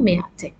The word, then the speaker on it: مئة: It has an alif, but we say مئة. We don't pronounce it مئة.